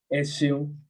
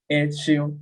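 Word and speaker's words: E ṣé: So we say Eshion, Eshion. Like I'm trying to say everybody like Eshion, like thank you. So it's like Eshion or Oshion.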